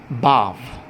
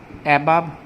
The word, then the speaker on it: above: এর উচ্চারণটা ঠিক করে নাও, বাভ, বাভ, বাভ। ঠিক আছে? কেউ যেন নেক্সট টাইম অ্যাবাভ, অ্যাবাভ এই সমস্ত কথাবার্তা না বলো।